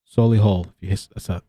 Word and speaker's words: Solihull: And the couple moved with Arthur into her home in Solihull, that's how you say it, in the West Midlands when the government declared a lockdown in March 2020.